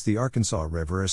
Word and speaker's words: Arkansas: It should be pronounced in 3 syllables, with the final S silent, the A in each syllable with the Italian sound, and the accent on the first and last syllables.